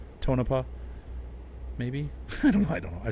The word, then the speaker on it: Tonopah: Now Tonopah or Tonopah, I think as he said, is how it's pronounced. Tonopah, maybe.